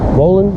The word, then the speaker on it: Wolen: I'm Wolen. That's how you pronounce it.